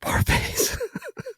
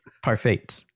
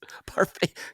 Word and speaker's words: parfait: Hey Mike, if you're out there buddy, it's good on yogurt parfets. Parfait. Parfait. God, I can't pronounce that word right. Yeah, it's okay. It's uh French, I think. Yeah, it's English French.